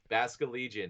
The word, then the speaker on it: Basculegion: This is the fish one, the Basque Legion. Yes, Basket Legion. Oh It my god, it sounds like it's spelled. Holy yes, shit. Basculegion is the evolution of the Gen 6 Pokemon Basculin.